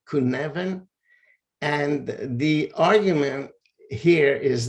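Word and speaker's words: Cynefin: this framework which is so hard to pronounce because it's a Welsh name but I guess it's pronounced something like kuneven and the argument here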